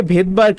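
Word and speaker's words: Svedberg: এই এস মানে হলো গিয়ে ভেদবার্গ ইউনিট।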